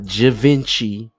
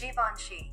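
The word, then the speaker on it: Givenchy: Time for the top three mispronounced words in hip-hop. All right, the number three spot we got not Javinci Jaini Jinci Jainci Javinci Javinci Javinci uncultured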